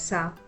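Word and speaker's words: स: So remember, whenever you see the letter Sa, pronounce it as Sa and think of the word Suraj, the bright sun.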